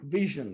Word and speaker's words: VSHN: It's like I just said, like vision, like, you know, that's why the I in the icon.